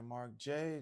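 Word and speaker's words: Marc Jaye: Grasping the Wind by Mark J. That's my stage name. Um, and it's spelled M A R C J A Y E.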